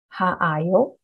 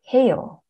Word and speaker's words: 해요: 하다, to do, 아요, 하아요. Not really, it is 해요, 해요.